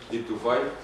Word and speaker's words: Ibn Tufayl: y fundador de la Fundación de Estudios Árabes Ibn Tufayl, porque lo pronuncio bien. Sí, Ibn Tufayl.